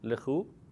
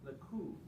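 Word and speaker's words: לכו: Lechu. Lechu. Okay, why did, Not I lechu, thought it but was lechu. leku. No, in this case, there's no dagesh.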